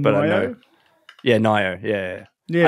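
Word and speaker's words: Nioh: Yeah, Nio. Yeah. I think it said Neo, but it's spelt Nio.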